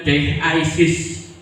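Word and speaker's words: δέησις: Dalam bahasa aslinya doa itu dalam bahasa Yunaninya yaitu dilafal dengan deisis. Doa pelafalan dalam bahasa Yunaninya dikatakan dengan kalimat deisis. Jadi dipotong-potong, diejak. Jadi DEH koma di atas, kemudian strip AY, strip SIS.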